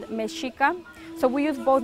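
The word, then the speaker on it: Mexica: were given the name aztec because they couldn't pronounce our true name what is our original name it is called meshika so we use both names we both add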